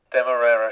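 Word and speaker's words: Demerara: things for you and dude said it was deera sugar demera sugar that's right demera sugar and all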